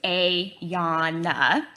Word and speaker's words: Ayana: My name is Ayana, pronounced Ayana.